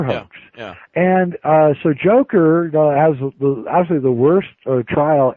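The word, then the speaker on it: Dzhokhar: Joker right the Joker yeah that's how you pronounce his name Joker yeah okay his name is Joker and he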